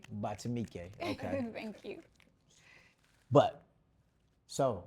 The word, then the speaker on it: Batumike: Did I pronounce that right? Batumike. Batumike.